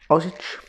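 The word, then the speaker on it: Osidge: a baronet of oz osage i think it's pronounced orange os oh i d g e i think no o s i d g e there's no r so that spins it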